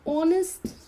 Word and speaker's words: honest: am I am an honest person so again here H is silent honest now honest is